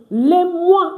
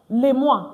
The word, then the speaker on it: mois: Les mois. Why is it les mois? Why is it not les mois? Because is it in our previous live class that OI is pronounced wa.